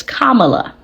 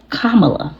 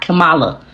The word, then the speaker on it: Kamala: __ ] say it it's Kamala okay kamla Harris it's not Cala I was saying that wrong and I do apologize Kamala if you ever see